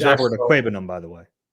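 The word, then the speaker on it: Okwuegbunam: I like to be correct in my pronunciations. I just avoid it. I just call him Albert. But anyway, it's Albert Aquabenum, by the way. Aquabenum.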